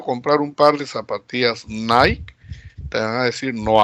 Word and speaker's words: Nike: un par de zapatillas nike te van a decir no hay por qué porque hay en eeuu y la pronunciación es nike y no es nike pero acá en perú